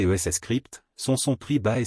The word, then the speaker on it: Scrypt: Les caractéristiques notables de Dogecoin, qui utilise l'algorithme Scrypt, prononcé ES Scrypt, sont son prix bas et son offre illimitée.